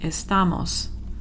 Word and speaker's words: estamos: always ends in most I don't need the accent mark here because there's already and emphasized syllable right there because the that's the automatic place where there would be an emphasis is the second-to-last syllable so I don't don't put an accent mark on estamos vosotros and vosotras is theis